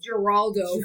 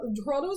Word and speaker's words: Geraldo: 98 on I called Geraldo for the longest time yes yes like I would not believe my mom when she told me the G is pronounced like an H I was just like